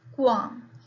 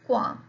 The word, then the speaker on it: qualm: Now the second word is qualm. Here the word is qualm. L is silent.